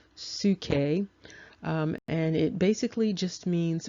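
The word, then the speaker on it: ψυχή: psychology mentioned in scripture that root and it's pronounced suke and it basically just means breath and the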